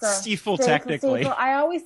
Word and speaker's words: Stiefel: It's Stiefel, technically. I always say stifle. I'm sorry. It's my Canadian accent. You know, I would say like 95% of people pronounce it stifle.